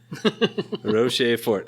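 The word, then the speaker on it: Rochefort: this is uh trapist Ros Fort three syllables Roch Fort okay and it's the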